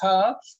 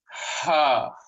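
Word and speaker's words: ح: So for us to pronounce Ha, fill your chest with air, inhale a little more, and then exhale and say Ha. Ha.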